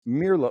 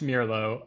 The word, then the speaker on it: Mirlo: want to ask is it's Merlo Mero Mero I kept I keep switching it in my head it's Miro it's technically it's Miro um but I think probably the only people who pronounce it like that are me and my co-owner um it's it's a SP it's the Spanish word for Blackbird okay so airlo is